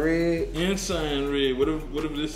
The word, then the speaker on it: Ensign: Unsigned Red? Ensign Red. Whatever this say? I think it say Ensign. I pronounced it right.